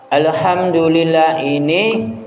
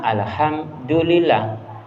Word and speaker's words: Alhamdulillahi: Alhamdulillah ini kebanyakannya membacanya Alhamdulillah. Tapi aslinya di tulisannya itu Alhamdulillahi.